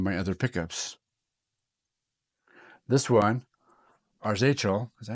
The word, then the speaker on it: Arzachel: This one, Arzachel, is that how you say it?